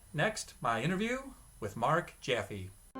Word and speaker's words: Jaffe: last name is spelled j-a-f-f-e his name is pronounced jeffy whereas i pronounce my name jaffe sorry for the background